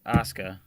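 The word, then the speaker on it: Asuka: you knew frigging I'll say her name correctly Aska there you go who's gonna win no we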